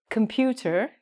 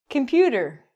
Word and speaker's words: computer: We don't say computer, as we should. We say computer.